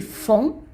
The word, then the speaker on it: font: And then ils font. Again, the T is not pronounced.